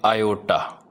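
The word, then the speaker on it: iota: आई इस तरह स्टाइलिश सा, और इसको हम प्रोनाउंस करते हैं आयोटा।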